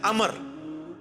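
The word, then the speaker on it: عمرو: वो लफ्ज गलत है लफ्ज़ उम्र तो कोई लफ्ज़ नहीं है लफ्ज़ है अमर लिखा होता है उम्र लेकिन उसका मतलब वो जो है वो साइलेंट होता है और वो का मतलब यह है की आपने इसे पेश की बजाय जबर से पढ़ना है उम्र की बजाय पढ़ना है अमर तो हज़रत ए अमर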